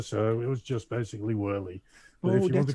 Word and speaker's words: Woerlee: well, I live in Holland, so it's Woerlee. Woerlee, yeah. But if you want to speak it out in English, it's Woerlee.